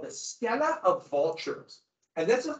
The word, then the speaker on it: stela: I guess it's pronounced stela. I want to say steel because I'm an English speaker, but I'm trying not to.